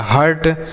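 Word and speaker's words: hurt: यस से हो गया ह, यू का उच्चारण अ लिखेंगे, आर से आधा र, टी से ट, यह हो गया हर्ट।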